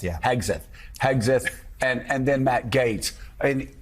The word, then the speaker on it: Hegseth: I really need to learn to pronounce it. Hegseth, yeah. Hegseth.